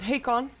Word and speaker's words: Hakon: For Aware, we actually got, for Batrider, the way it's pronounced is Hakon, because Russian letters. Hakon is going to be on the Batrider.